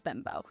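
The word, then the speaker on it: Bembo: I've looked it up and how to pronounce it. His last name is Bimbo.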